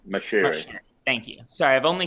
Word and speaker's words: Moshiri: that being, I hope I'm pronouncing this right, Marishi, or Moshiri. I don't know how to pronounce it either. Matt, do you know? Farhad Moshiri is his name. Moshiri.